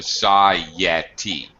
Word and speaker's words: society: We're going to throw in what's called a glide. There is a Y sound, the consonant Y, not I sound like syllable, but the actual ya of Y. So society. So this gets tricky. We bridge 2 vowel sounds together with either a Y or a W.